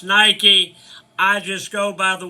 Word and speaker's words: Nike: shoes and I said so what are these Nikes doing over here and they said it's pronounced Nike and I said well it's spelled